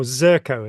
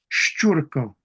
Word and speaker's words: Szurko: to be Szurko, or Zurko, as people usually call you, eh? Yeah. Do you want Yeah. to say it properly for me so that we have it on record? Szurko. That's a long Szurko, U. Szurko. Szurko. Yeah. Excellent. Go. Zerko is fine.